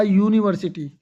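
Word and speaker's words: university: तो यहां पे जो है ना वोवेल की वोवेल से तो ये शुरू हो रहा है लेकिन वोवेल की साउंड से नहीं। यू की साउंड जो है ना अ आती है।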